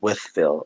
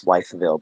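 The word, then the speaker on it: Wytheville: He said SRT says it's pronounced Withville. Okay, I'm sorry. I thought it was Wifeville, but it's Withville.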